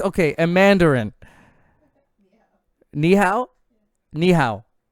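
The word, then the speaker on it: 你好: Ni hao. Like the knees that I have.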